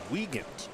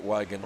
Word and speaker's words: Wiegand: Robert in the chat lets us know that it is pronounced Wiegand. Oh, and I've always pronounced it Wigan, so I've only had it wrong for 100 years.